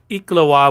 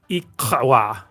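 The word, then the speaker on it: iklwa: So Waldemar says you pronounce it Iklawa with the same sound making when calling a horse. Iklawa.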